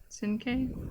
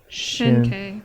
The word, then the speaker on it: Shinke: I said his name wrong. Shinke? nope. Yeah, Senpai? Shinke. Shinke. Notice me. Sorry, sir. For my father. Shin-K. That's how it's pronounced.